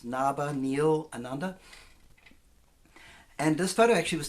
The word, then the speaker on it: Nabhaniilananda: That's my long Sanskrit name, which I don't expect you to be able to pronounce, but it's Nabhaniilananda.